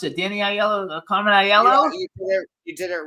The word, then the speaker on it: Aiello: and casting director Carmen aello how do I pronounce it Danny aello Carmen iello you did it right Mr star there you